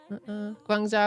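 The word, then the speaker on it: Guangzhou: Guangza was fantastic. Am I Am I butchering the pronunciation of that?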